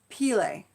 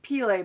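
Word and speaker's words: Pele: goddesses chapter four is peel a I think it's pronounced peel a but it's PE le and I see that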